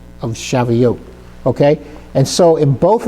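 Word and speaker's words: שבועות: So the vav and the toav they make up the oat of shaveote.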